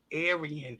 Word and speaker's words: Arian: Oh, his name is Arian. Oh, Arian. I said Aaron, didn't I?